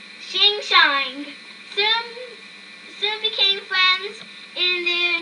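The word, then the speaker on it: Hsing-Hsing: Hi-sing, a male, whose name is pronounced Shing-Shang, soon became friends in their new home.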